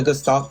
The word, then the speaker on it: gestalt: The gestalt principle.